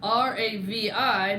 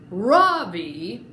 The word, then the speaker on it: Ravi: Ravi, R-A-V-I, Mrs. Beam has been calling him Ravi, but when he introduced himself earlier, I'm pretty sure that he said his name was Ravi, with the accent on the second syllable.